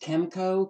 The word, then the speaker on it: KMCO: have another one at what is pronounced kemco km Co and this is a